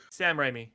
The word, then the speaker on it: Sam Raimi: No, wait, I'm saying his name wrong. Sam Raimi.